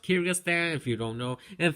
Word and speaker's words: Kyrgyzstan: no sense of a bunch of letters is pronounced Kyrgyzstan if you don't know and finally this country